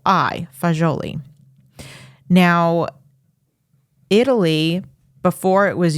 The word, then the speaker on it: fagioli: Florence that area the word for beans is foli it's f a g i o l i foli now Italy before it was unified and and